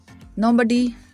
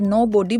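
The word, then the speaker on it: nobody: नोबडी कोई भी नहीं। कुछ लोग इसे नो बॉडी बोलते हैं, जो कि रॉन्ग प्रोनाउंसिएशन है। नोबडी कोई भी नहीं। इज the right pronunciation wouldn't नहीं करूँगा, वुडंट नहीं करूँगा।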